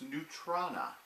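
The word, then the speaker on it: neutrona: or neutron ax wand and yes it is pronounced new trona now there is a particle called neutrinos neutrinos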